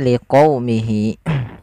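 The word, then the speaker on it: لِقَوْمِهِ: Liqaumihi enggak, tapi liqaumihi. Yaitu di sini kita untuk menyempurnakan dari fathah bertemu dengan huruf waw. Dan agar sempurna dalam pelafalan wawnya kita monyongkan sedikit.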